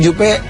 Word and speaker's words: Jupe: begitu membaik bukan karena Jupe bangkrut saya sedih banget dengarnya yang aduh ngomong Jupe bangkrut ini bacanya jup itu engak bangkrut tapi